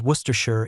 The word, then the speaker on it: Worcestershire: In careful speech, shire is two syllables, shire. In natural, relaxed English speech, it compresses to sure. So, Worcestershire, the county named Worcester, becomes Worcestershire in everyday speech.